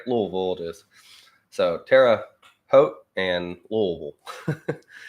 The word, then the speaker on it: Terre Haute: And I believe that a lot of lobbying went on, and that this is more to do with Hoot rhymes with coat. Hot, Hote, Terre Haute.